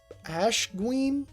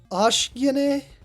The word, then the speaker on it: Ashen: His name is Ashween. Hold up, let me check the kadakana. It's pronounced Ashen. They chose the hardest possible name to say.